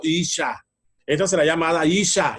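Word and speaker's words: אִשָּׁה: Esta será llamada varona, que significa, o se pronuncia en hebreo, Isha.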